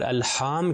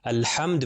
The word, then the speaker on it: الحمد: رکھیں۔ جیسے الحمدللہ میں الحمد میں ہا کے اوپر صرف زبر ہے، اس کو کھینچنا نہیں ہے، صرف ملٹیپلائی بائی 1